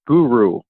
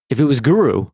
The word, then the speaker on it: Guro: To be honest, it's not super fluid for me either, because I usually pronounce it more like guru, like G-U-R-U, even though it's spelled G-U-R-O.